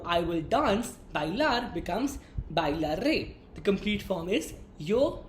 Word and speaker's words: bailaré: I will use the first conjugation, that is A, with an accent on the E. Therefore, the conjugation for the verb I will dance, bailar, becomes bailaré.